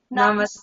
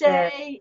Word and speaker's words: namaste: Namaste. Namaste. Happy St. Patrick's Day. Happy St. Patrick's Day. Thank. I love it that namaste rhymes with Happy St. Patrick's Day.